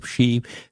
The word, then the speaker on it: Xi: is the Chinese president I think you pronounce it she this year um he's